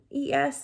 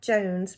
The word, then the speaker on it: Joines: The Joines family, that Joines is spelled Joines, so not Jones, but Joines.